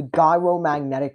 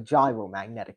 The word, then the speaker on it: gyromagnetic: Eventually what we were getting was the gyromagnetic ratio or the gyromagnetic ratio. It's not pronounced like the food Gyromagnetic ratio is well